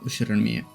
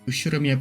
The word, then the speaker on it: Ushiromiya: The first part is my family name, Ushiromiya. Ushiromiya? Yeah, I know. That's a fairly plausible Japanese pronunciation so far.